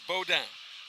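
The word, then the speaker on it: Boudoin: of his last name is b-o-u-d-o-i-n but pronounced Bow Down Bowdoin beaudwan it is Cajun and of course today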